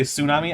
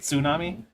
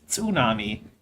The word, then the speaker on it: tsunami: Yeah, cuz I don't say tsunami. I say it tsunami. Put the T in there cuz it's in the word. It's not tsunami, it's tsunami.